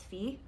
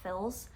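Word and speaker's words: fils: lady of camellias by Alexander Dumas fee or Phil's I don't know how to pronounce anger pretend it's fee yeah but anyway I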